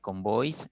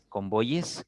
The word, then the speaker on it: convoyes: los medios de comunicación te meten este este esta pronunciación cuis cacis eh convoys No ahora te repito lo correcto es convoyes caces cuyes leyes porque hallemos le la lógica si si se pronunciaran así estas otras palabras convoys cacis cuis tendríamos que pronunciar también leis no y este se rompería